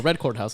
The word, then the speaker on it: RedCordHouse: Oh, RedCordHouse.